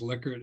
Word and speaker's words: Likert: And then somebody said, Will, I think it's Likert. And I said, really? So I went to investigate, and I found the daughter of Likert who said that the way to pronounce it is Likert, and I sort of trust her.